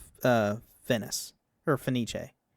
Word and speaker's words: Fenice: the Italian pronunciation, and the English dub has Fenice rhyme with the classical English pronunciation of Venice. Yeah, it's it's Finis is how it's pronounced in English, but it's uh Finis or Finiche.